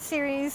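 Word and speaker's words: Ceres: right training um Cirrus how do you say it series series in Virgo which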